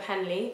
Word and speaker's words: Henle: Following part is the loop of Henley or The Loop of H depending on how your teacher pronounces it followed by the distal